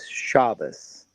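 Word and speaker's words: Shabbos: They're unsaved Jewish singers, but they their music is based off the psalms, but they're Ashkanazi. And so they pronounce Shabbat is shabas.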